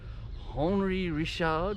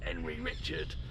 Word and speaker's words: Henri Richard: I live it is a producer called hry rishard which my inner Deliza do little wants to pronounce Henry Richard it is a uh